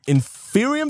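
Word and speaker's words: Inferium: need to first start by getting ourselves some inferior seeds and that's how it's pronounced these guys right here and there were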